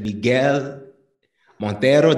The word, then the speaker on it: Miguel Monteiro: Miguel Monteiro. Did I say it right? Yeah. You kind of sounded like Spanish, but yeah, it's cool.